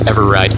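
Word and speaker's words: EveRide: channel is ever ride it's spelled Eve ride like Eve ee ride but I I'm certain it's ever ride is the way it's pronounced and that guy as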